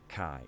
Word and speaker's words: chi: in the Greek alphabet what looks like an X is pronounced CAI Zhi which is interesting because